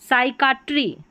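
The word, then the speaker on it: psychiatry: पी एस को साथ में पढ़ा स और पी साइलेंट है। साइकैट्री साइकाट्री।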